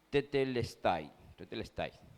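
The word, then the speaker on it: τετέλεσται: expresaba este término, que en el griego se pronunciaba tetelestai, ¿sí?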